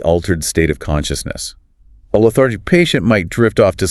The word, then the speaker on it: lethargic: Let's say you walk into the room and the patient is lethargic. Pronounced le-thar-gic. The stress is on the second syllable, thar, lethargic.